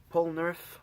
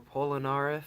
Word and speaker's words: Polnareff: favorite of these minifigures Pollan earth or pollen RF however you want to pronounce it I like pronouncing it polnareff so yeah here he